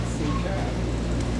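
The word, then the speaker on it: Phuket: P-H-U-K-E-T is how you spell it, but you gotta watch how you pronounce it. Yeah, but anybody that was in the Air Force when I was in there call it Phu Khao.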